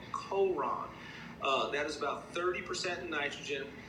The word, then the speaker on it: Coron: It's Coron. I'm not sure how they pronounce it. That's how we say it here. It's C-O-R-O-N, Coron.